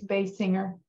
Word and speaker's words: Basinger: PETA 24 years after her mom did it's Bay singer thank you what's her name it's a hard